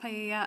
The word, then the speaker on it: paella: I'm not sure if that's how you pronounce it at the party. It's pronounced paella.